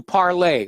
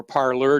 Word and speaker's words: Parler: truth here now this brings us to parley or parler depending upon how you want to pronounce it uh conservatives flocked to